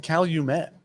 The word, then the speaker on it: Calumet: calumet farm 14 year i like how you said cal you met yeah actually i think i agree with that pronunciation what would you say